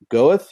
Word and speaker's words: Goethe: I'll just correct the pronunciation. It's a Goethe University from Frankfurt.